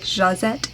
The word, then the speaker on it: Josette: Josette and Josianne are two of the Americanized pronunciations of French names that are pronounced more like Jazette and Zazian, which you know, I'm not good with any of the French names, but something in that realm.